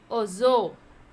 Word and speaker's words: oiseau: Is oiseau. What? Oiseau. How to pronounce?